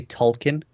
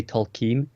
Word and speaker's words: Tolkien: Actually, I just want to point out we say Tolkien, whereas in this show they often say Tolkien. This is something to do with the way we were raised, because British people tend to say kin, whereas Americans say keen.